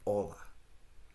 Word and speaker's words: hola: He is in his 5th year of studying Spanish and still pronounces the H in hola.